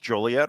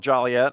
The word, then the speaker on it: Joliet: And uh you know, you at least pronounced Joliet, right? because it's, you know, some people call it Jolliet and uh there's nothing jolly about it, but they do have